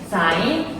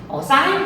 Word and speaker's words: 사인: 그러니까 삼각비라고 하는 거는 우리가 주요하게 얘기하는 게 사인, 코사인. 또 이거 친구들이 세인하고도 많이 발음합니다. 그러니까 사인이고요.